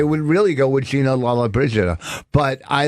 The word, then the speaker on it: Lollobrigida: That's Gina Lollobrigida.